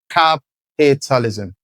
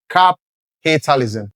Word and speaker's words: capitalism: The stress is still on cap. So, that word is pronounced as cap- i- tal- ism. Cap- i- tal- ism.